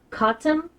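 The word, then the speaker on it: Cottam: Um, he the radio operator, Harold, uh, Katum, I think is his name, I think is how you pronounce it. I don't know if it's a typo. It's C O T A M as in Mike.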